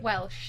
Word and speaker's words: Welch: Is that the same as Raquel Welch? Yeah, Raquel Welch. How do you say it? Welsh.